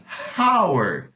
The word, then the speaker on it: hour: hi mas essa palavra a gente não fala hours a gente fala hour no mesmo com h ele não tem e não é pronunciado e manda eu tenho h&e ch for